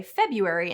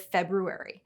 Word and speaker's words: February: The re-Latinization trend also explains why we say February instead of February.